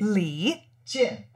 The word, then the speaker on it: 李健: leein I can't say that Lee Lee Le Lee Chin Chin yeah that's it you did but am